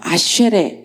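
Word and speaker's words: אשר: 아셀, 이거를 이제 히브리어로 읽으면 아쉐레 이렇게 발음을 하는데 구약 가운데 총 45번이 나온답니다.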